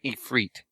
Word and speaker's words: Ifrit: has, like, vocals, but, they said Ifrit. Like that. So I was like, oh, that's how it's pronounced.